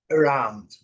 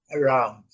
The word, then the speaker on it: around: Around, around around. Percebem bem? Muito fraquinho, né? around a gente eh os estudantes iniciantes, né, que tão ainda que não tem contato com esse tipo de de entendimento, de entonação, de depois de som, fala around, né, um a bem aberto, não é?